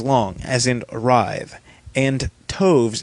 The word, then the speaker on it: toves: as in arrived and Toves is pronounced as to rhyme with groves again the first oh